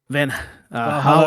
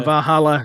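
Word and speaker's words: Valhalla: some Viking name Van Val. Vajala, I think. Yeah, Vajala. Yeah, see how I didn't pronunciate it correctly.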